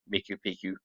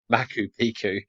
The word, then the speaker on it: Machu Picchu: In fact, the name Miku Picchu means old mountain. Machu Picchu said it wrong.